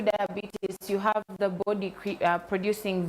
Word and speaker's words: diabetes: So, a lot of people don't know that because as Ugandans in our accent would call it diabetes. It's pronounced diabetes, and it has types.